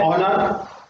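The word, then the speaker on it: honour: next है ऑनर, यहां पर भी ऑनर, फर्स्ट साउंड क्या है स्वर की है, तो यहां पर यूज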